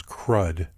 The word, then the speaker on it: CRUD: The four basic functions of a database are create, retrieve, update, and delete, often pronounced as CRUD.